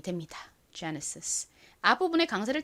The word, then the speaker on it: Genesis: 가지고 이렇게 이름을 붙였다고 합니다이 단어 미국식 영어 발음으로는 Genesis 와 같이 발음이 됩니다 Genesis 앞부분의 강세를 딱 주셔야 돼요 따라해 보세요 Genesis